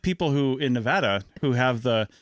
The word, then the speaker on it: Nevada: And it's like people who in Nevada who have it's Nevada, it's not Nevada. Yeah. It's Nevada. Nevadans get very uppity about the pronunciation of Nevada.